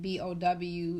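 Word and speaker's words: beau: But bow tie is spelled not like B-O-W, it's spelled B-E-A-U, like a bow, like your lover bow.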